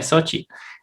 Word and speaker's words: Xochitl: De hecho, si uno le dice a una persona así, un placer, Xochitl, y te va a corregir, se pronuncia Xochitl.